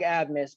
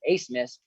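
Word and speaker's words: Abmas: Max, and this is it looks like Ab miss, but it's actually pronounced. I was watching the game when they were on the slate last time. It's Ace Miss.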